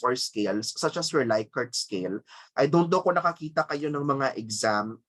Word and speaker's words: Likert: the choices plus you refer to that as your light card scale others would pronounce it pronounce it as likert scale okay so that's your